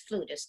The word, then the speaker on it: flutist: Well, we're in the United States, so it's flutist. If you're in Italy, really? Flautist.